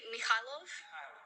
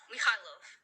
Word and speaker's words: Mikhailov: how do you pronounce Mikolov? And oh, my audio isn't all the way up. Hold on. Okay. Okay. Let me. Okay. So you say Mikhailov? Mikhailov. That's how you say it.